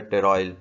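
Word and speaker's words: pteroyl: Vitamin B9 भी कहते हैं, विटामिन BC भी कहते हैं, विटामिन M भी कहते हैं, लेकिन और जो है टेरॉयल, P साइलेंट है, टेरॉयल L ग्लूटामेट भी कहते हैं फॉलिक एसिड को।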